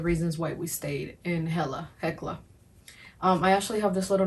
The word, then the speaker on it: Hekla: But for me, we were looking more for like tranquility, so Hella, and actually it's pronounced Hekla.